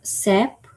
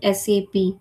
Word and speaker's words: SAP: and it is not been pronounced as a SAP. Okay, it has been pronounced as an SAP.